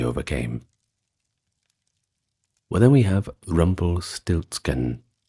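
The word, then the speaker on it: Rumpelstiltskin: Well, then we have Rumble Stiltsken, which is pronounced pretty much the same in German.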